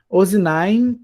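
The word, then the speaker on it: אָזְנַיִם: Ozinaim significa orelhas. Ozinaim. Orelhas. Ozinaim. Ozinaim. Ozinaim. Isso é o o meno final ele é bem pronunciado.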